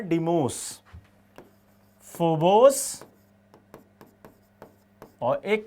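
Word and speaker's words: Deimos: डोमिनोज नहीं, डीमोज।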